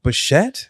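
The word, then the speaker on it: Bichette: And but kicked it off with uh uh Bo Bashette.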